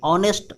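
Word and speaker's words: honest: ऑनेस्ट मैंने आपको बताया था कि जैसे HOUSE हाउस, हस्बैंड, तो जिस अगर नाउन का स्टार्टिंग एच से हुआ हो लेकिन उस एच का उच्चारण होता है ना, एसेंट होता है, तो उसके पहले हम ए का यूज करते हैं। लेकिन अगर कोई नाउन हो, कोई एडजेक्टिव हो, उसका उच्चारण साइलेंट रहता है, मतलब ऑनेस्ट देखिए साइलेंट है, इसीलिए यहाँ यूज करते हैं एन का।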